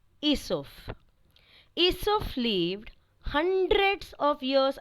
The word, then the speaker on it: Aesop: an intelligent man named Aesop. A E S O P. Now, children, A is silent, so it is pronounced as Aesop.